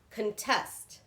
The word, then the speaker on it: contest: So it is on the second syllable, not the first.